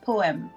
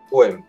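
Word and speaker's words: POEMS: Et ça s'écrit P-O-E-M-S. Poème. Poème. Voilà.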